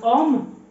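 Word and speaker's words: homme: كتقراش في اللغه الفرنسيه، بحال كلمه اوم يعني الرجل، اوم. دونك هنا، هنا راه او، عفوا، اوم. دونك هنا ما تقراتش اش، كتقرا غير اوم، ولا مثلا اوطيل، ما كاينه اش في الاول وما كتقراش، دونك اش ما كتقراش، كتولي اوم.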